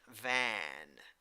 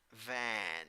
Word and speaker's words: van: That is the A that laughs. So how do you pronounce it? A. Pronunciation: van, van. You have to imagine that you're laughing.